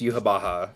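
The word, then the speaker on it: Yhwach: to me multiple times it is in fact pronounced yuab Baha um so that is just what I've been going with because it is based on like goova like Yahweh like yeah that is exct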